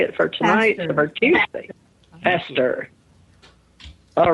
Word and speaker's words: Pastor: Hester.